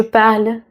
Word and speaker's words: parle: O som morre na letra L.